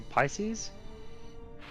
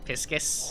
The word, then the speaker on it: Pisces: It should be Pisces. Yeah. A Piscus.